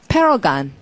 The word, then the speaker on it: paragon: 자, 소리는 paragon. 발음을 또 gan이라 그래요. 이거 워낙 멋있는 단어라서. paragon이라고 특별하게 발음하는데, 모범, 자기가 모범 이상으로 생각하는 건 내 옆에 있어야 되죠?